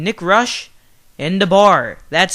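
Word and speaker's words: Nick Roesch: have to do is just search the name Nick Rush in the bar that's spelled n i c k r o e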